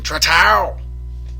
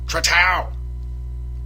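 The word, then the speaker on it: Trattou: And then my man Justin Tratow. Now, I know technically his name is pronounced Trato or Trato, something like that, Trato. But it's just way cooler to pronounce it Tratow.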